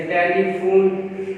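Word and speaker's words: telephone: जैसे टेलीफोन, यहाँ पर F की साउंड है, PH की फोन, और H साइलेंट रह रहा है।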